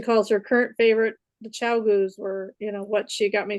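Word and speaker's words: ChiaoGoo: that I absolutely loved until I got the Chicago. I can never say it right. Cowgoo? Cowgoo, thank you.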